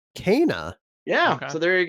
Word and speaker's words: Kena: Pronounced Kena. Kena.